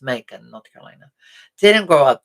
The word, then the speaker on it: Macon: Now, despite rumors or things that people have said, I did not grow up in Macon, which is actually pronounced Macon, North Carolina.